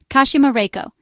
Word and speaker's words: Kashima Reiko: To survive, you must answer, Kashima Reiko. Each syllable must be pronounced correctly. Ka as in mask, Shur as in death, Ma as in demon, Rei as in ghost, and Ko as in accident.